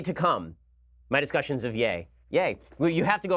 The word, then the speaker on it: Ye: I had said that it was Yee which mistakenly thought that when it was like Yee that it was like Jesus but apparently it's yay so I've been I've